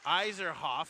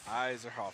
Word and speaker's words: Iserhoff: say your last name iserhoff iserhoff iserhoff yeah kind of sounds like Eiserman and he we're pretty